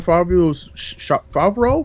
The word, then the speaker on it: Favreau: the John Favreau's Favreau. I don't know how to say his last name. Favreau? Yeah, there you go.